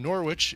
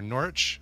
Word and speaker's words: Norwich: sharks they are from Norwich in the UK or Norwich I guess you'd say